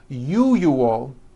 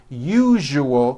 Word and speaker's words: usual: are very very common if you are someone that pronounces the word usual as ual I'm telling you you are not being understood let me show you how to pronounce the word usual correctly break it up into three syllables U that second syllable the one with the underline needs to be voiced put your hand on your throat and feel for the